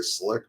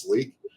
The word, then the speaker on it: SLIQ: um but that's pronounced Sleek a lot of people say slick but it's Sleek um Sleek is designed